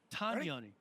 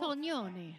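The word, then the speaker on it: Tognoni: Tagnoni. We've been saying it wrong. Tagnoni. Tagnoni. You have to do that thing with your hand when you say it. I got to be more Italian.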